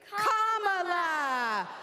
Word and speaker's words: Kamala: do you pronounce it first you say comma like a comma in a sentence Danny say la like la la la la la put it together and it's one 2 three comma all right so let's